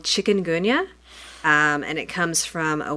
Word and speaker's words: chikungunya: much Oh before you leave you got to pronounce that word for us the disease is called chikungunya and it comes from a word which means